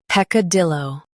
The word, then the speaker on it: peccadillo: Peck, dill, o, peccadillo.